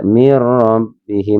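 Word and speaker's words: مِن رَّبِّهِمْ: Jadi baca mirrabihim. Teman enggak boleh mir enggak boleh ditekan tapi mirrabihim. Karena ini ada nun sukun bertemu dengan huruf ya. Ya, dibacanya memang memasukkan tapi dengan tidak mendengung tanpa mendengung dinamakan idgham bila mirbihim wa ulaik.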